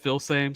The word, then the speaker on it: Filsaime: a lot of Xavier Filsaime. I believe I've heard Filsaime, I've heard Filsaime. So Filsaime. When I was covered in recruiting, I was told Filsaime, so I've just stuck with that.